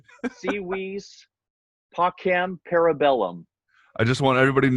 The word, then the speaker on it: Si Vis Pacem, Para Bellum: the album name either it's like a lesson in Latin right sea wees POC ham para bellum I just want everybody